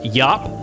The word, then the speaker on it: Iop: was a class called It's pronounced Yap but it's spelled IOP so most English people pronounce it IOP that's what I always